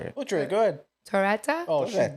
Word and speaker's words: Torretta: Torretta? Oh, she Torretta. butchered You it. said it perfect.